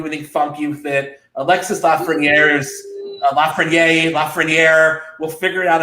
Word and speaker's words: Alexis: It's Alexis. Everybody I know that. Alexei. He's not Russian. He's French Canadian. You don't pronounce the S in French.